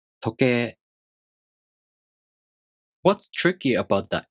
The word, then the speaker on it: 時計: 時計. 時計.